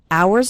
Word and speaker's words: hours: hours and hours remember the H in the word hours is silent so don't pronounce it at all hours and hours and the